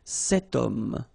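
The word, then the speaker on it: cet homme: then o is here we've got this ash letter remember Ash is not pronounced okay so you've got the sound of O at the beginning of this word okay setum so that's the reason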